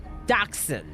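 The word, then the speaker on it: dachshund: That's a a dachshun. There we go. That's how you say it. Dachshun.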